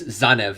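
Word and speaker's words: Tzanev: it the entire way uh yeah it's zanev i said womanly keeper at first because i'm like how do you pronounce his name uh zanev t-z-a-n-e um again our second to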